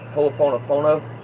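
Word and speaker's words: hoʻoponopono: It's called It's pronounced hooponopono.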